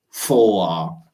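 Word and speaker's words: vor: en alemán la preposición foa ya ahí la tenemos subrayada cierto con r al final esa r no la pronunciamos decimos como una especie de a al final no vamos a leer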